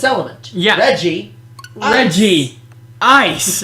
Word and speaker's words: Regice: Like, how hard is it to pronounce the Reggies? Reggie Ice, Reggie Rock, Reggie Steel, Reggie Gigas.